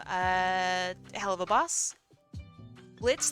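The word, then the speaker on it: Blitzø: hell of a Boss Blitz the O is silent from uh hell of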